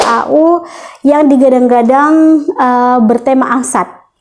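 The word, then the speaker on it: angst: yang digadang-gadang eh bertema angsat kalau kalian belum tahu angsat angsat itu a n g ST angs a n g a n g ST angsat bacanya gitu Oke jadi angsat itu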